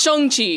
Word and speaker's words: Shang-Chi: It's pronounced Shang-Chi.